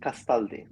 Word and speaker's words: Castaldi: Castaldi. Castaldi. Yeah, yeah, yeah. Yeah, I mean Italian in that sense is quite easy.